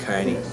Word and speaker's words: Kearney: It's Kearney, and it's pronounced Kearney. The E is silent in it, so just ignore the E in my name and you'll be okay.